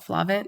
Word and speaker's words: FLAVNT: And so my clothing line is called FLAVNT Streetwear. It's spelled FLAVNT Streetwear. The V is aesthetic, not phonetic.